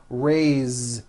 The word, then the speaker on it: raise: a bit unusual because even though it is spelled with an S it's pronounced with a voiced Z raise so we say I